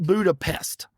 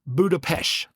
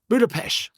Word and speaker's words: Budapest: is the the ST is actually pronounced sh. So it's Budapesh. Budapesh.